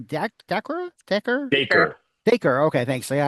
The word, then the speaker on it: Dacre: Can you talk about casting like Barbie and how do you pronounce his name? Dacre? Dacre? Dacre.